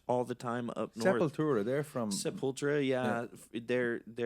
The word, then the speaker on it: Sepultura: Oh, Sepultura. I've always said that. You want to make sure everybody knows how many syllables are in this.